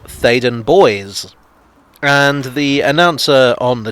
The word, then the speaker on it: Theydon Bois: in a rather french manner it should be pronounced as such thaden boi but i was informed that no it's actually pronounced faden boys and the announcer on the tube pronounces it